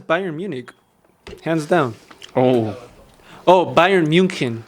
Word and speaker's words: Bayern München: Bayern München. That's how you pronounce it. Ooh. Yeah, because I study a little bit of German.